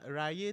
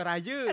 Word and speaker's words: Raya: Sebab Raya tu pun Abang Noel pronounce nama dia Ray, wow. Bukan Raya.